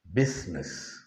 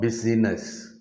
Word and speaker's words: business: what is right is what is natural is business not busyness business look at the script look at the